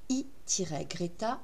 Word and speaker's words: e-greta: de formation à distance i-greta CFA donc dans votre navigateur vous allez saisir donc c'est pas un i c'est un e e- Greta CFA on le prononce i donc il est toujours